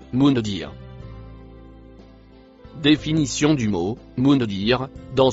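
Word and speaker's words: منذر: Le deuxième mot violet se prononce mundir.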